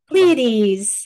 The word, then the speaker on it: Pleiades: How do you pronounce it? Pleiades.